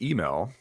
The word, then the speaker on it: Hymel: uh we can go with heiml it's actually pronounced email Louisiana so French to base name um but I've gone by heimel for forever because it gets to a point